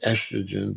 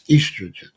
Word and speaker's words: estrogen: They say estrogen, but according to this doctor, it's estrogen.